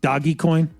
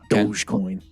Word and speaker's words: Dogecoin: okay isn't it it shouldn't it be uh like doggy coin no it's not how that should be pronounced isn't the logo a dog even it is yeah yeah it should be doggy coin dogecoin they don't even know